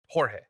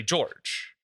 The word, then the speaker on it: Jorge: get names like um like Jorge in English you don't pronounce you would say George or George you know but like you don't say you don't we don't pronounce j as H right in English yeah but